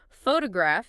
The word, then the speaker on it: photograph: Like photograph is stressed on the first syllable, but photographer is stressed on the second.